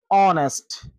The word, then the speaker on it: honest: H is silent at the beginning of some words. For examples, hour, honest, honesty, honor, honorable, air.